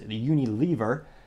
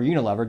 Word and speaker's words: Unilever: They're actually owned by global company known as Unilever, or Unilever, depending on how you want to pronounce it.